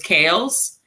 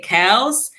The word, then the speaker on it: Kales: And it's so frustrating for me because those who know me, my nickname is Kales, and Americans say Kels, and it's just like R. Kelly's nickname.